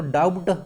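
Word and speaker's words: doubt: अगर बी के बाद टी आता है तो उस बी का प्रोनाउंसिएशन जो होता है साइलेंट हो जाता है, टी हो गया।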